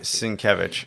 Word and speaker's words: Sienkiewicz: Sienkiewicz.